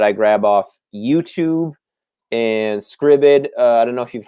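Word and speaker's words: Scribd: footage uh that i grab off youtube and scribbid i don't know if you've heard of scriven uh sam it's it's spelled s-c-r-i-b-d dot com and you basically can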